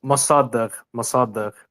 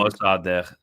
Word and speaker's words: Mossadegh: Was it Mogaddash? Was that his name? Mossadegh, like Mossad and then at the end. Mossadegh.